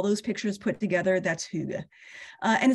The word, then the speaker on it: hygge: to say the word because it's hard to pronounce okay so the Danish word is hygge and hyuga is a Scandinavian concept again it's part of